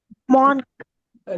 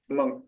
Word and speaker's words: monk: மான்க். நீங்க நேச்சுரலாவே படிங்க. இது வந்து மாங்க்னு சொல்ல படிக்க கூடாது. monk, மங்க். monk, monk, monk, மங்க் வந்து MUNK தானே இருக்கும் அப்படின்னு இல்ல. உச்சரிப்பு வந்து மங்க்னு படிக்கணும்.